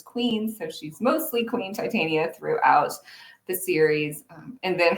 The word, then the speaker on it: Titania: for fairies and, well, I guess Titania is how the name is traditionally pronounced, but I pronounce mine Titania with a very science background.